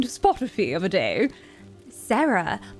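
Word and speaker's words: Sera: Sarah, but her name is spelled S E R A cuz she's she's cool and edgy.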